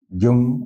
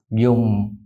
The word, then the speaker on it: dùng: Dùng ở đây, dùng ở đây. The O without the hook. Uh-huh. You have to round up your lips. Dùng.